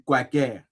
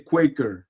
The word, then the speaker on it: Quaker: mais voilà donc mais normalement la vraie prononciation c'est Quaker hein c'est Quaker mais bon Voilà, on a pas le temps.